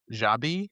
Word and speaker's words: Xabi: Xabi, B I. Yeah, that's it. With a V. In Spanish, B and V are pronounced the same way.